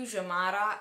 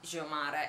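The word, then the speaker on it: Xiomara: In più Jomara, che io chiamo così, non sono certa che si pronunci Jomara, comunque in teoria in portoghese la X si pronuncia J.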